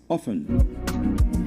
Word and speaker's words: often: But the version that is now more acceptable is the one that has the T silent that is often.